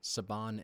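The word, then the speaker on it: Saban: Funimation approached Bruce after they had been working with a previous company, I believe, Sabon. Sabon Entertainment is the pronunciation.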